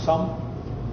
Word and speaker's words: Xumm: make the sun wallet xumm pronounce some and as in the sum of all things and uh you know